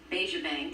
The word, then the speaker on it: Bejabang: He's the director of Buddies Helpers, along with students Philip Denny and Bejabang. Did I pronounce that right?